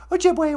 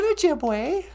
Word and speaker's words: Ojibwe: So, in Ojibwe, the letter E sounds like A, as in the word Ojibwe. We don't say Ojibwe, that'd just be silly.